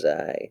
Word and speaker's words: xi: I keep saying psi. I think it's xi. It's a better way to pronounce it.